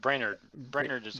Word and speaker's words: Brainard: how you say it reynard it's a real brainerd brainerd but yeah brainerd brainerd has said they